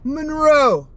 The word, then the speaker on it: Munro: I say ever Munro. You have to put the little accent on the M.